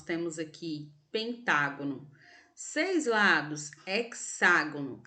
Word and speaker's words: hexágono: Pentágono seis lados hexágono atenção para o acento agudo tá a sílaba que está acentuada é a sílaba que você você vai ler com uma tonalidade de voz mais fortes pelo amor de Jesus não vamos falar é que sagone tá 7 lados é tagono